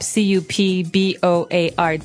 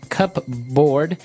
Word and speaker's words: cupboard: Okay, so you might want to say cupboard because it's cup, C-U-P-B-O-A-R-D. That's not right. The word is pronounced cupboard. Okay, so even though it may seem like you should pronounce cupboard, the correct pronunciation is cupboard.